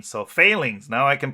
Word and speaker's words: Fehlings: So Fehlings, now I can pronounce it correctly, right?